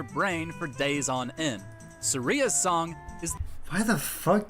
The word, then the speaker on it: Saria: No, Dork, it's Saria.